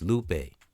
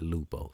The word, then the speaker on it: Lupe: And it's Lupe Fiasco, not Lupo.